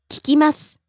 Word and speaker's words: 聞きます: 聞きます聞きます Rising on the second syllable ki, falling on the last syllable su. 聞きます Next, 夜 evening, night.